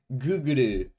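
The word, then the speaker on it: グーグル: Is an American online video sharing platform owned by Googuru? Which is the correct correct pronunciation of Google in Japanese, by the way.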